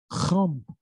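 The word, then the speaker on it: חם: In Hebrew, Chum. Hebrew pronunciation, Ham actually is Chum.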